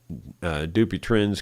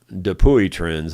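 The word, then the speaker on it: Dupuytren's: That's how the doctor pronounced it, but it's spelled D-U-P-U-Y-T-R-E-N-S. Or T-R-E-N, and then there's apostrophe S. Dupuy trends is the way it looks like to me, but anyway, people usually just shorten it to Doopy trends.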